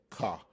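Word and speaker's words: ך: The suffix is a ka. Again, there's a letter, and it's a ka. Ka is the way it is pronounced, ka.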